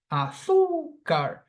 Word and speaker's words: azúcar: This word has 3 syllables, but phonetically, I stress the second syllable before the end. Azúcar.